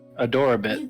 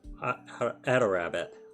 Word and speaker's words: Adorabbit: Yeah, that's Ado Rabbit? Here, how do Ado you say Rabbit. it? Ado Yeah, Rabbit. that's Adorabbit. Adorabbit. You Adorabit.